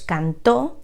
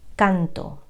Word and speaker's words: cantó: Por ejemplo, tenemos cantó y canto. Cantó es indefinido y canto es presente. Él cantó, yo canto.